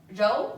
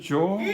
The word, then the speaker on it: 柔: You pronounce it 柔. No. 柔. Look at my 日. Not 之. The tongue goes up.